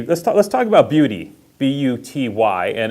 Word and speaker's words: Buty: talk let's talk about beauty b-u-t-y and it is pronounced beauty yes it is nina